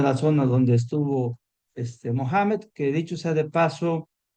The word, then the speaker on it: Mohamed: sea de paso eh la pronunciación más adecuada del formador del Islam es Mohamed. Tenemos una versión veriberie que nos llega a través de Marco Polo que se hizo popular donde lo llaman Mahoma, pero el nombre real es en árabe es Mohamed.